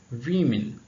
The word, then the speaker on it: women: Because not how it becomes plural, but again you have to see the pronunciation. Woman, women, women. So women, we have internal vowel change, but it becomes women.